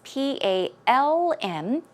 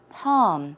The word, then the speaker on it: palm: is an L it's P ALM as you can see yes it is not pronounced with an L it is just P a hm along all sound palm palm there's no L one